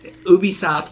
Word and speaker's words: Ubisoft: is 80% of what Ubisoft Ubisoft that's actually how you say it we know that now